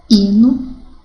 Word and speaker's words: hino: Porque a letra H não tem som, não é verdade? Então, seria emitido dessa forma: haver, herói, hino, hora, humor.